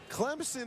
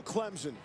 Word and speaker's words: Clemson: pronunciation guide in fact here's how the locals Clemson is okay just on the hint of a P don't ever go Clemson never the Z that's like the Ghostbusters